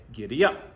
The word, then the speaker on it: giddy up: We would want to say giddy up, where the accent is on up.